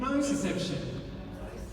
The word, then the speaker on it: nociception: Nociception. And again, nociception. From the guys in the room? And from the girls? Well done, New Zealand. And it's spelled like this, but we say it, nociception.